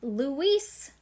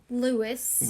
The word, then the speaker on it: Luis: He's from Spain. It is pronounced Luis.